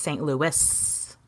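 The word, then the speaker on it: St. Louis: pronounce this and overwhelmingly everyone was like it's St Louis you pronounce the S okay so somebody needs to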